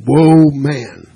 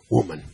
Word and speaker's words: woman: of the man yeah I hear some men pronounced that as whoa man that's a mispronunciation of the word woman and I've seen some